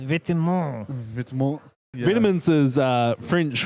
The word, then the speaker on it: Vêtements: I believe it's pronounced vêtements. Vitamins. Yeah. Vitamins is French for clothing, Yeah, I know that. I actually know that one, believe it or not. but it is pronounced Vêtements. I know, except do you think people pronounce like Margella?